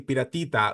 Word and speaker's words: Piratita: taking on okay so they said his name wrong the entire time um the the other wrestler um it's it's so Pata in Spanish is pirate um but his name is actually piratita like it means like small little pirate yeah like so yeah